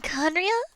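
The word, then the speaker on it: Khaenri'ah: Conria? There we go, I remembered! Ha! Could it have been Conria?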